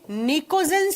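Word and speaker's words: pnictogen: इसे P अक्षर से लिखा जाता है। उच्चारण करते समय P मौन रहता है और इसका उच्चारण N अक्षर से किया जाता है।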